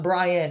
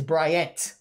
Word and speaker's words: Bryant: brian in stratfor college it's not brian it's bryant i have to learn